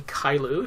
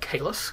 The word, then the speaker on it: Caylus: the proper pronunciation is probably kyou if you're going to go with the French but uh us Americans call it kalus because that's how it's spelled um it's we heard